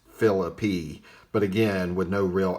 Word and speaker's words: Phillippe: Now, that book says that the correct pronunciation is Phillippe, though they give no real explanation for it.